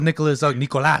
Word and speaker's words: Nicolas: And she said, I wish he would say his real Spanish name, like something like that, Oh, like in a Spanish way instead of like in a Spanish way, like in an American way, right? Like Nicolas, say it like Spanish. Exactly. If it's like Nicholas, I hate when he said Nicholas. He should say Nicolas Garcia, and instead of like Garcia, he should say Garcia. True.